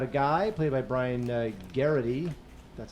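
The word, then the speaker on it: Geraghty: This is about a guy played by Brian Garrity. That's how you pronounce it.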